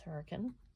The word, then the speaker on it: Hurricane: town called Hur um it's spelled like hurricane but it's hurricane um and then I